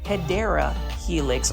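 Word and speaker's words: Hedera helix: And this one is our first Hedra Helix or the correct way to say it, you know, I have to say it, Hideera Helix or the English ivy.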